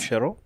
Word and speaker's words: shiro: So only for these stuffs, like maybe you are tired of eating shuro, but shuro, it's a VIP dish in that place. Shiro? Shiro? Okay, yeah. You said it right.